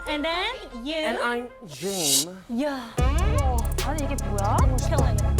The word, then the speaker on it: James: Jim, James, not Jaim.